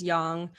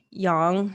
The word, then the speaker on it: yang: We're talking about masculine versus feminine, yin versus yang. Yes, that is the correct pronunciation of yang. It's not yang. Oh, really? Yeah. So yin and yang.